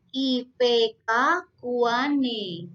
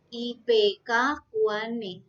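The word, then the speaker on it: Ipecacuanhae: Tulisan NH itu dibacanya sebagai N. Contohnya, ini ada nama Latin IP Cacuan Hae. Ya, ini kita bacanya menjadi IPK Kuane. Ya, IPK Kuane.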